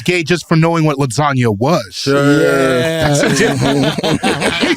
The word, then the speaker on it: lasagna: His dad thought he was gay just for knowing what lasagna was. Sure. Yeah. He said, what? Hey, you pronounce that G in this house. It's lasagna. Ain't no goddamn Frenchman.